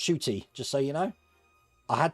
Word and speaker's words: Ncuti: It said as Shooty. Yeah, Ncuti is pronounced Shooty, just so you know.